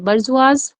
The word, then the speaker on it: bourgeoisie: बर्जुआज well known है, इसके spelling ध्यान रखिएगा आप लोग, BOURGEOISIE।